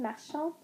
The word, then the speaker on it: marchand: Est-ce qu'on dit une marchande avec un D ou une marchande avec un T? La réponse, on dit une marchande de. Alors, c'est un marchand avec un D à la fin.